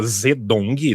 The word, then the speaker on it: Zedong: hoje em dia a gente grava e grava zedong Z e d o n e pronuncia maed né que é muito mais próxima